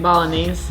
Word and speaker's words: Bolognese: Bolognese. Bologanese.